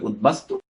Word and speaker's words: উদ্বাস্তু: যেমন এই উদ্বাস্তু, বাস্তু এর সাথে যদি উৎ, বাস্তু, বাস্তুচ্যুত, বাস্তু ভিটে বাড়ি, তার আগে যদি উৎ আসে, তখন সেই বটি উচ্চারণ বজায় থাকবে, উদ্বাস্তু।